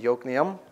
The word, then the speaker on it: Yokneam: That's Yokneam. Okay? It's spelled Jokneam, but pronounced Yokneam.